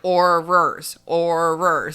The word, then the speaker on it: Aurors: I was like, Aurors. I would say maybe 5% of librarians in America can pronounce Aurors correctly also, so you're fine. It's like ours.